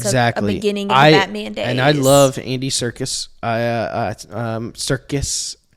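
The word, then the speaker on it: Serkis: it definitely was exactly and I love Andy circus I uh um circus circus you said it right yeah I love him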